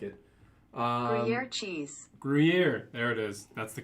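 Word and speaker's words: Gruyère: uh christian sects i like it uh cheese gruyere there it is that's the correct pronunciation my favorite if i'm just eating cheese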